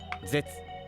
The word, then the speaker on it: 絶: それぞれ天、絶、練、発と読みます。